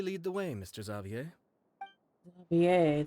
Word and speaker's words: Xavier: the way Mr zavier zier that's how you say his name I used to say Xavier Xavier zavier there we go it's so funny to